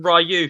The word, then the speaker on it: Ryu: So it's actually Ryu if you listen to the game.